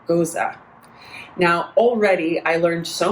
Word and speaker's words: Gose: um dive into a style that we call goza now already i learned so much i have been pronouncing pronouncing this goes so it's spelt j-o-s-e so i was like